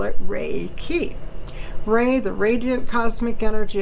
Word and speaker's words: Reiki: forth and we are choosing to call it ray key ray the radiant cosmic energy of the sun